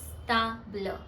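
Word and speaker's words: table: related to ते इज ता ब्ल ता ब्ल च means स्टेबल in English but द वे of pronouns it in French is different ट्स इ कैन यू प्रोनाउंस इट ता ब्ल ता ब्ल यस टू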